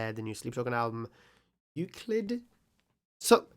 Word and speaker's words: Euclid: pronounced eclip include no Euclid I think it's Euclid um probably but I I